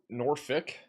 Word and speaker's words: Norfolk: For future reference, Norfolk is Norfick.